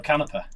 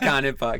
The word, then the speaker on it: Canepa: Is it Canepa or Canepa? Is Niccolò, first of all. Here we go. Can you say that? Canepa. Canepa. Niccolò Canepa. Niccolò Canepa. But most of the people in Italy said it wrong and say Canepa, so...